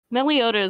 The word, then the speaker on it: Meloetta: Meliota is a very good one. At least I believe it's pronounced Meliota.